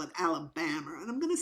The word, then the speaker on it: Alabama: about that could be Louisiana but um or Alabama it could be Alabama oh it's Alabama cuz she kept mispronouncing Alabama she kept calling it alab this